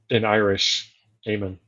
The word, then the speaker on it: Eamon: Eamon, sorry. Eamon. I think I it's pronounced that American. It's spelled in American Eamon, but it's pronounced in Irish Eamon.